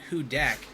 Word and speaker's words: Hudak: i read the bio and it says it's pronounced hudak and i thought it meant that she was